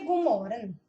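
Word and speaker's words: god morgen: Por que Gumoren? O a gente não pronuncia o D.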